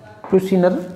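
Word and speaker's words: Prusiner: 1982 में एक आपके प्रोफेसर हुए थे S.B. प्रूशिनर बोला जाता है इंग्लिश में, इंग्लिश में प्रोनाउंसिएशन का फर्क है। S.B. प्रूशिनर, ये लीजिए, प्रूशिनर कहा जाता है।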